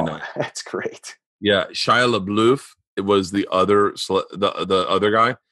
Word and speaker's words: LaBeouf: Yeah, Shia LaBeouf.